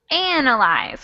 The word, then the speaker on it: analyze: This one is actually analyze, which means that the stress is on the first syllable.